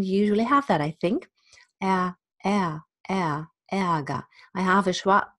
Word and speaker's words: Ärger: The E and the R in final, at the end of a syllable is A. Ärger, der Ärger, nicht der Ärger, Ärger.